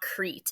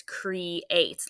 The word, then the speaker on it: creates: syllables um so you it looks like they would be two vowels like E A eat e but it's not Crete it's creates like they're showing here